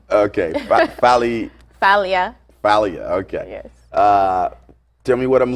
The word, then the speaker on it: Falia: it's actually greek the first name okay valley falia uh tell me what i'm looking at right